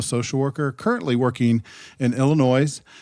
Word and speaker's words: Illinois: the yes or without pretend the S isn't there yeah Illinois there's no ass all right there's no s she's practicing in Illinois